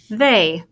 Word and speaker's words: they: When you have EY together, sometimes it makes the long A sound. So this word is they.